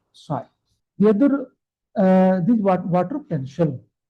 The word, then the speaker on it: psi: P is silent, and this symbol is known as the psi.